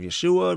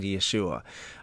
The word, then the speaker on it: Yeshua: and I think that the Hebrew pronunciation of Yeshua would probably you know that would be better but I think he answers by both I think he answers by both Jesus and Yahshua you know for example